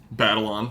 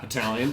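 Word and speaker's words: Batalon: Holland group with Tom Holland and Jacob Battleon not battalion. I'm an idiot. But I always see his name pronounced different ways and I've never actually just like looked at the spelling of it.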